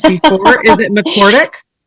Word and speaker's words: McCordic: I usually ask for pronunciations before. Is it McCordic? It's McCordic.